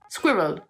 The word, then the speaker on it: squirrel: I hear a lot you can just cut it into two square well it's squid Road squirrel squirrel squirrel squid row squirrel seems easy when you break it down but I'm gonna confess